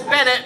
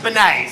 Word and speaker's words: Bennett: And my last name is Bennett, which you Americans like to pronounce as Benet. So thanks to Hewitt for saying Bennett properly and not calling me